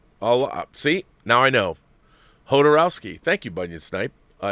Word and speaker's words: Jodorowsky: His parents were from Europe, but he grew up in Chile and pronounced the J like a Spanish speaker would. Hodorowski. Wow, okay. So it's Alejandro Jodorowsky. See, now I know. Jodorowsky.